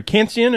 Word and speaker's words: Khantzian: Andrew Kantsian.